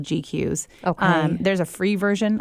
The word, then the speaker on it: GQueues: And the program I use for that is called GQs.